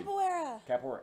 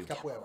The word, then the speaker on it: Capoeira: Capoeira. Okay, thank you. Capoeira.